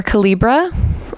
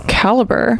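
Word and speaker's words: Calibre: lot of you mentioned calra or calibra I guess I should look up the pronunciation of that hold hold please caliber oh it's caliber well now I feel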